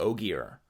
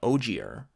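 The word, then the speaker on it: Ogier: we'll start with the Oggy R so our boil oil he's one of the oh dear I would always use a soft G in instances like this so I was saying Oh G R and I do that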